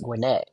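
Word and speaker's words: Gwinnett: thing as guette County it's gwet like internet gwet um you could tell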